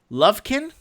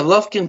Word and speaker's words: Lufkin: Lovekin? Yeah, Lufkin, Texas. How do you spell it?